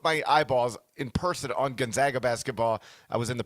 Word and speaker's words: Gonzaga: Now most people finally have gotten to the point where they say it correctly, which is Gonzaga and not Gonzaga.